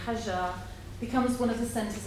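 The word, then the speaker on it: Hajar: holy city of mecca her name pronounced in arabic with the soft ji hajja becomes one of the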